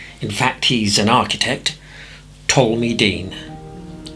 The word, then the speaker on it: Ptolemy: In fact, he's an architect, Ptolemy Dean. I know, it's spelt with a P.